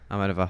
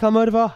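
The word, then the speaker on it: Almodóvar: I was waiting for somebody else to pronounce the name. Almodovar, darling. Almodovar, thank you, honey.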